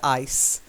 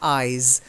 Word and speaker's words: eyes: But when I heard it, I heard ice, not eyes. Okay, so ice has the softer ending, and eyes has the z, the vibrating ending.